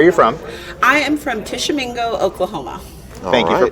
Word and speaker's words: Tishomingo: I am from Tishomingo, Oklahoma. Thank you for pronouncing it because I never can.